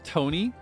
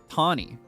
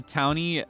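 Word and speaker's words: Taunie: So they'd probably pronounce the name like Tawny. So then she was Tawny. But then somebody pointed out the Townie and the Urbane connection.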